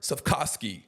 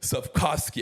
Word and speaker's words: Cvetkovski: Today's guest is the owner of the third largest sandwich chain in the world, Robert Cvetkovski. Did I say that right? Yeah, you said it right. Cvetkovski.